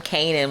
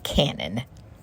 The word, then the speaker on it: Kanan: that I got from Kanan when he's watching got me over here consistently saying this man's name wrong his name is Canon like the camera Canon Neva on stage like